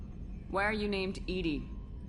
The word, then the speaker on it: EDI: Why are you named ED? ED is the phonetic pronunciation of EDI.